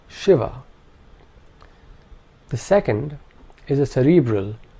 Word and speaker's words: Shiva: The first is a palatal sh, sh. This is the sh of Shiva.